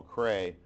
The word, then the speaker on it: Crea: Do you realize, or have you heard, that the Admiral Cray, it's Crea or Cray, it's spelled C-R-E-A, it's a woman, she's